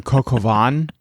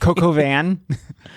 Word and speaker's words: coq au vin: Patrick, chicken coq au vin? Okay. I pronounced one little thing wrong and you're going to drag me. You said Coco Van?